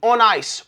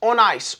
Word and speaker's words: Onnais: So, how do you pronounce this company? On ice. On ice. On ice. If you stand on ice, you're on ice.